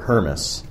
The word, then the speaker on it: Hermes: know the opportunity well the true story is that my last name is pronounced thermos mm-hmm it's German and so my great grandparents immigrated to the u.s.